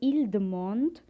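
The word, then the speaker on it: ils demandent: we will say vudumonday for they want we will say ildemand again you have e-n-t silent ildemand or el dumont the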